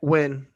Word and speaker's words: Nguyen: Win.